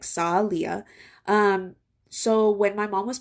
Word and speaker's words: Salia: Salia is actually how you pronounce it, like Salia.